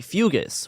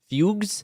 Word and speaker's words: fugue: Uh in some cases terrifying visions were followed by fugus which is an old term for like fugues.